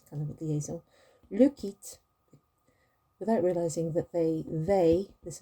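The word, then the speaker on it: quittent: You pronounce it in the same way as the je, tu, il, elle form.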